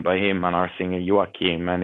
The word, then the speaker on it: Joachim: But Joachim, is that how you pronounce his first name? Your singer? Joachim. Joachim.